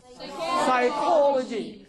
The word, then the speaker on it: psychology: the combination PS and PN at the beginning of a word. Beginning of a word. Now, words are psychology, psychiatry, yes, psychopath, and PN, pneumonia, right? Yes, sir. So you find here P is silent.